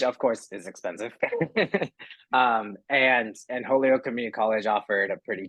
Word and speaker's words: Holyoke: You chose Holyoke Community College. That's how you say it, right? Yes.